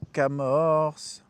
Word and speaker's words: Camors: Nicolas Johan pour Lorenzo Camors. Fred, on dit Camor ou on dit Camors? Camor. Il n'y a pas le S que je prononce pas.